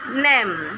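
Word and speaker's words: name: वैसे ही है नेम एन एन से बनता सॉरी न से बनता है एन और ए से बनता है ए की मात्रा और एम से बनता है म नेम और इ साइलेंट रहता है।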